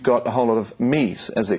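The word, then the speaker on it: Mii: But online, though, you've got a whole lot of me's, as they're called. M-I-I is how it's spelled. So it's a me.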